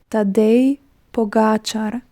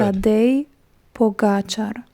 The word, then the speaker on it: Tadej Pogačar: So the correct pronunciation of another Slovenian rider is Tadej Pogačar. If I repeat again. Yes, you should. Tadej Pogačar. Tadej Pogačar. Tadej, almost like Sade, I love.